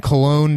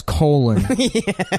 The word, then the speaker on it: Cologne: Anyhow, so we're watching the one where, I guess they were in Cologne, Germany. Yeah. And which one of them pronounces as colon.